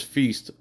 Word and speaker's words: Feast: His last name is Feast, which rhymes with beast.